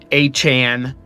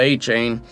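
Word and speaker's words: Achane: Zay Flowers, Devon, Achan, not A-Chain.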